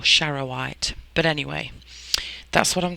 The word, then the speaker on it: charoite: to pronounce it so i'm pretty sure it's chara white or shara white but anyway that's what